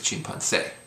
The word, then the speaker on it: chimpancé: And chimpancé is what it would be without the accent, but it's chimpancé.